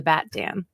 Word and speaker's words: BatDan: So what was your inspiration behind the BatDan? I think this is pretty simple. My name is Dan. I really like Batman. Mm-hmm. So Batman rhymes with BatDan.